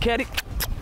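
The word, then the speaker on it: Caddy: Your boy C-A-D-D-Y pronounced Kerry.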